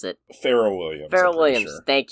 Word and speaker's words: Pharrell: How do you pronounce it? Pharrell Williams.